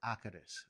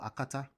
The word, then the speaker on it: akata: okay by the way it's not pronounced akades okay it's called akata that's in remy there's a tone to it okay it's called akatas